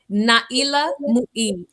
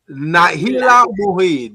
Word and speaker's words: Nailah Muied: Nailah Muied. Nailah Muied.